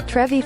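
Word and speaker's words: Trevi: Around $4,100 worth of loose change is thrown into the How do you pronounce that? It's Trevy Fountain.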